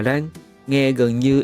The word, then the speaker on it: lan: Tiếng Việt gọi là lang, tiếng Nhật cũng gọi là rang.